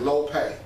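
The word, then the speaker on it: λύπη: up the word sorrow in the greek is looping l-u-p-e it means uh you pronunciation is low pay l-o-o-p-a-y that's my job preston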